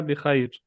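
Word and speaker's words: بخير: तो ये बिखैरिन है, लेकिन आपको पता है कि जब वक्फ किया जाता है तो आखिरी लफ्ज़ साइलेंट हो जाता है। तो हम इसे पढ़ेंगे अना बिखैर, या आप यूँ भी कह सकते हैं बिखैर, सिर्फ बिखैर। ठीक है।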